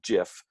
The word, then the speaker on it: GIF: you can communicate with most people call them gifts but it's actually pronounced jiff so you can reply with gifs you can